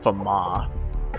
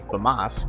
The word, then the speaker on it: FAMAS: I actually looked up how to say the name of the gun it's a Fama cuz it's a French gun but I like to say Famas cuz you know I'm